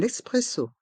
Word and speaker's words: espresso: prononçons un café un espresso un café un espresso pour le mot espresso on fait la liaison avec le N de 1 et le E de espresso un espresso un café un